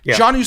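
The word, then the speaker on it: Jonnu: player on that team jonu Smith is okay at the tight end I think I believe it's pronounced Janu my apologies if I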